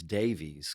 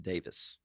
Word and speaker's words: Davies: I heard, But I heard the guys in the Kinks that their name is everybody says Davies because that's the way it's pronounced, Ray Davies, and it's actually pronounced Davis.